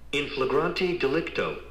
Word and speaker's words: in flagrante delicto: Now pronounce it again. Something about In Okay, I'm gonna play it for you again. In flagrante delicto. Delicto. infragrante dialect. delicto.